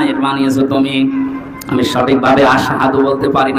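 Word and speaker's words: أشهد: হযরত বেলাল ওনার জহব্বা ছোট ছিল, এই জন্য আশহাদু না বলে আসহাদু বলে ফেলতো, শুদ্ধভাবে উচ্চারণ হয় না।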